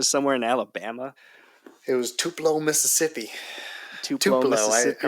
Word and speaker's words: Tupelo: It was Tupelo, Mississippi. Tupelo, Tupelo. I Mississippi. remember thinking, oh, Tupelo. And then as soon as I get there, I realized immediately that it's not pronounced Tupelo.